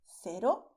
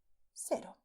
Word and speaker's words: cero: And to say the number 0 in Spanish, you say cero or also cero.